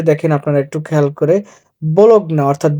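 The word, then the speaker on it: Bologna: আপনারা একটু খেয়াল করে ব্লগ না অর্থাৎ বলোনিয়া বলোনিয়া যেটা বলি আমরা বাংলায় কিন্তু উচ্চারণ হবে ব্লগনা এটা দেখেন পিরিবাত 650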